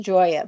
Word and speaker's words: Gioia: And I want to spell your last name for everyone because it's pronounced Joya, but it's spelled G I O I A.